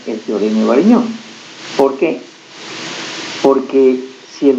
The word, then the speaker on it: Varignon: El teorema de Varignon se pronuncia en francés Varignon.